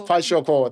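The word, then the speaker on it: Kwashiorkor: I might be pronouncing it incorrectly. Kwashioko. Remember? Kwashioko. It's Kwashioko.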